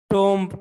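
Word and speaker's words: tomb: This mask like other mask of the time comprise of टॉम्ब of founder. टॉम्ब ये टम्ब नहीं है, याद रखें. जब किसी वर्ड के लास्ट में एम बी आ जाए, जिस तरह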